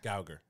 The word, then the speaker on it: Geiger: Gauger. Yeah. Like Gal Gadot.